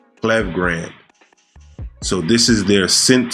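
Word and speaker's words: Klevgrand: It's not Clever. The pronunciation of their name is a little weird. It's Clev Grand. Clev Grand.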